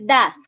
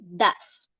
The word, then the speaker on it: does: el auxiliar de idas bien se dice das como si acá hubiera una a pesar de que se escribe does se dice das listo que tenemos que